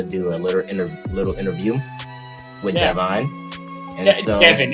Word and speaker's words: Devon: And we are gonna do a little interview with Devon. And so, Devon. It's pronounced Devon. Is Devon? Okay. Yeah, sorry. Devon. D-E-V-O-N, Devon. It's how you pronounce it.